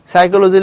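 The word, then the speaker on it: psychology: সাইকোলজি লিখলে সামনে একটা পি দিয়ে এত ঢং করার মানে কি?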